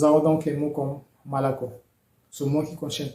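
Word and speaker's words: молоко: Donc, comme l'indique la règle, tous les autres O n'étant pas porteurs de l'accent tonique se prononcent A, d'où le son malako.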